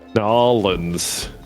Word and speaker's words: New Orleans: Nolans is how it's pronounced in New Orleans.